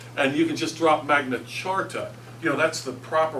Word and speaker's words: Magna Carta: say it is actually magnet charta even though it's spelled with just a c not a CH but I don't I don't pronounce it that way um because everybody pretty much says Magna Carta but uh if you